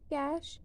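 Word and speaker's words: cache: कैश, इसे हम कैश pronounce करते हैं।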